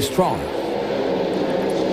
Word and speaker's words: Strachan: Ça s'écrit Strachan, on doit prononcer Strong.